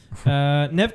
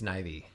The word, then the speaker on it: Neve: Nev Campbell, she was great. It's Neve. I think it's pronounced Neve Campbell. I think it's Nivy.